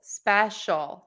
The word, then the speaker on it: special: shul I hear with the word special Especial all the time and it's just two syllables special not special special special okay awesome all right okay